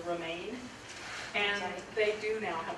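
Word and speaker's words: RMIAN: The organization in Colorado is pronounced actually Remain, and they do now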